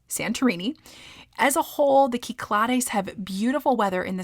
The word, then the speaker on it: Cyclades: the kiklares or again you may have heard this pronounced before the American way the Cyclades which I just learned